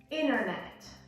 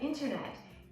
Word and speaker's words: internet: And a glottal T is a T that the sound actually stops in your throat. So you don't pronounce it at all, okay? So a native speaker would say internet, right? Wouldn't say internet, internet.